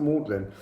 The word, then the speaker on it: maudlin: Moodle in college but that's about Magdalene but it's pronounced maudlin but there's a moodiness